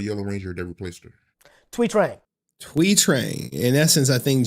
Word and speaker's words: Trang: How do you pronounce the name of the Yellow Ranger that replaced her? Trang.